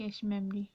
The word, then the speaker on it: cache: क्या करता है मेमोरी कैशे मेमोरी से वो चीज़ ले लेता है। ठीक है, अ कैशे pronounced कैश इज़ a small and very fast memory.